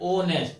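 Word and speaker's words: honest: से हो रहा है लेकिन जब प्रोनाउंस जब इसका करल रहा है जब बोल र है तो बोलने प ओ आ रहा है ओ नेस्ट ठीक है तो इसलिए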